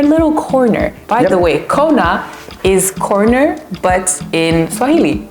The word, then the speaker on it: Kona: So and even in the way we spell out the corner, it's like Kona. So it's not corner like in English, but it's corner.